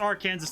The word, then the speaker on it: Arkansas: Yeah, it's Arkansas, and so them calling it Arkansas is very confusing.